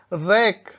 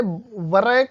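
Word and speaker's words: wrack: और W silent होता है तो उसके जो है एग्जाम्पल्स आप देख लीजिए, जैसे कि डब्लू आर ए सी के रैक, अब इसे वरैक नहीं बोलेंगे, रैक है ना।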